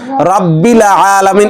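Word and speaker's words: رَبِّ الْعَالَمِينَ: বড় ভুল হয়ে যায় রব্বিল এখানেও দেখেন বালাম জের বিল প্রায় মানুষের লামের উপর কলকলা হয়ে যায় এবং লামের উপর জবর সৃষ্টি হয়ে যায় রাব্বিল আলামিন এরকম বলেন বলেন তো রাব্বিল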